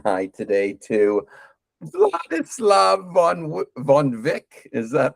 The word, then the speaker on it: Vladislav: lot of people, so most of the time I introduce myself by singing the song "What Is Love" because it rhymes so well. So, what is love, baby? Don't hurt me, and it rhymes with "blood is love." So that's how you pronounce that.